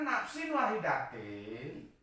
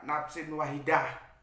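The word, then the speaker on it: نَفْسٍ وَاحِدَةٍ: Karena nafsin wahidatin itu, kalau orang-orang Arab bacanya ya nafsin wahidah. Aku supaya lebih jelas nafsin wahidatin.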